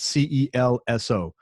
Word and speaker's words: Celso: us we're with celso and his name is spelt c-e-l-s-o but it's pronounced celso he's brazilian a couple